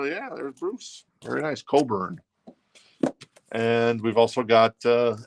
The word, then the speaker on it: Cockburn: the shrink with the hypee sticker pronounced curn oh sorry Bruce uh an excellent condition I'm not going to say anything this is $9 and uh yeah there's Bruce very nice Coburn and we've also got